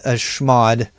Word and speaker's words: chmod: And this is one of the few commands that I actually phonetically pronounce a chmod.